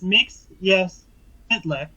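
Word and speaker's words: Mxyzptlk: worth their way installed knows how to pronounce his name they even think this can be a superman animated series it's mix yes hitler you gotta say it really fast make sense okay but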